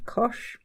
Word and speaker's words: cosh: or shine we have hyperbolic cosine which is pronounced sensibly enough cosh we talked about hyperbolic tangent and that rhymes